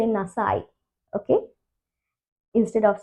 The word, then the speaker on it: nasai: Okay, even though there is a E at the end, we will not pronounce it. It's a silent E. Okay, so we will just say nasai.